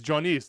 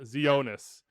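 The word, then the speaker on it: Tzionis: unable to pronounce names marinos jonisse is johnis not zeonus cam duke played on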